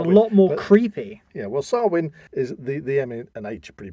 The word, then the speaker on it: Samhain: actually refers to it as Samhain right well sarwin fair enough that's actually sounds a lot more creepy yeah well sarwin is the the nature pretty much silent but